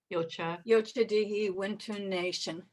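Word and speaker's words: Yocha Dehe Wintun Nation: Yocha Dehe Winton Nation.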